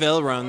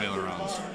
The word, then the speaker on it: aileron: It's a French word, I think. Aileron. Mm-hmm. You say aileron, so it's written the same, so...